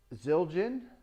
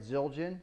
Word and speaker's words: Zildjian: Now I bought the stands are all brand new, and the cymbals are all brand new, and they're Zildjian. Am I saying that right? Zildjian.